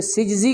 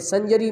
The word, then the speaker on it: سجزی: میں یہ قصبہ تھا جس کو لوگ سنجر بولتے ہیں، لیکن اصل میں درست تلفظ اس کا سجز ہے، تو آپ کا جو لقب اس میں سجزی کہنا زیادہ صحیح ہے، لیکن اب لوگوں میں سنجری مشہور ہو گیا ہوا ہے اس قصبے